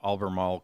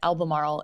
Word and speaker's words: Albemarle: Albemarle is one of those mouthfuls to say. I was going to say I said it. I appropriately said it as if I had marbles in my mouth.